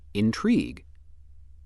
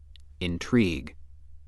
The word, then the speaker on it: intrigue: The other pronunciation of word 12 is intrigue. Intrigue. This pronunciation is used when word 12 functions as